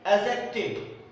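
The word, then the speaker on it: adjective: ध्यान दीजिएगा, noun, एडजेक्टिव, इसका उच्चारण है एडजेक्टिव, एडजेक्टिव नहीं, क्योंकि डी साइलेंट है।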